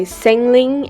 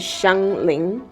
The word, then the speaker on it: Xiangling: And moving on, we have Xiangling. So, I feel like her name gets confused very often. I've heard people say Xangling and Xingling :') but the correct pronunciation is Xiānglíng.